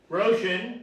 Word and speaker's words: Roshan: Roshan, which rhymes with ocean.